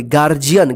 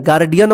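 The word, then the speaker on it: guardian: है यहां पर देखिए जी के बाद यू आया है तो यू साइलेंट रहेगा गार्जियन देखिए यहां पे गार्जियन गार्डियन मत पढ़िए डी का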